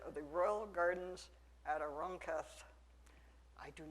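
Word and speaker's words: Aranjuez: the royal gardens at arunketh i do not speak spanish i certainly don't speak castilian spanish i've listened a whole lot on youtube and i think arancath is pretty much the way that's pronounced so uh the naronketh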